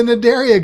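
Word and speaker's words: Cnidaria: the file name is what's it start with a c but it's not pronounced with the c area there you go they are in the nadaria group which are going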